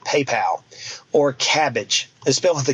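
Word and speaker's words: Kabbage: companies like PayPal or cabbage they spent the K by the way I had double check that cabbage is spelled with a k a company called prosper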